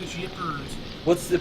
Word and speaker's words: Ypres: battle of Yippers. It's actually how you pronounce that, people. It's weird. I thought it was Ypres.